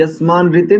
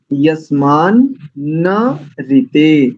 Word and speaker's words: यस्मान्न ऋते: और यस्मान नहीं बोलेंगे, यस्मान ऋते नहीं, यस्मान न ऋते, ऐसा बोलेंगे।